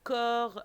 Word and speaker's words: corps: un conseil la santé le corps avec s et on ne prononce pas et c'est pas le pluriel les dans la nourriture